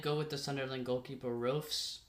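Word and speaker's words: Roefs: I did go with the Sunderland goalkeeper, Roofs. I think that's how you pronounce it. R O E Fs.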